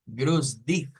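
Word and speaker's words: Gruß: este patrón de acá no te quedes como decir u e s entonces Ni siquiera es una B ni siquiera es una B sino que es como una U S Entonces eso es como grus grus y aquí otra situación la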